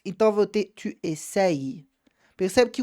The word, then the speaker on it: essayes: Agora, quando eu tenho Y, eu tenho dois Is na pronúncia. Então, eu vou ter tu essayes.